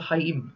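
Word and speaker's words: חיים: called sorry it's a Haim okay the CH whenever you see CH in Hebrew the C is silent in Hebrew from the root word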